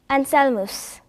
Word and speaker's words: Anselmus: 발음은 영어로 Anselm, 라틴어는 Anselmus, 이태리, 스페인, 포르투갈어는 안셀모, 그리고 핀란드어로는 안셀미라고 하며 한국에서는 안셀모라고 합니다.